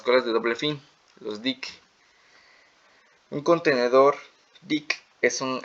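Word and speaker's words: deque: es interesante notar que el término dec escrito se pronuncia como Dick y finalmente podemos decir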